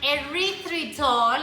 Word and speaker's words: erythritol: I got my erythritol. I've been mispronouncing this thing.